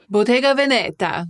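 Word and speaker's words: Bottega Veneta: that that's not it we want the Italian pronunciation as in English and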